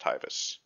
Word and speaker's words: Taivas: a new premium unit tybus is that how you pronounce it well i think like in jp he's tivos with a y so it would be tivas i don't know but taiva taivus i i don't care we can call him theodore uh looking at the jp enable exactly pronounced tyvis yeah okay sounds good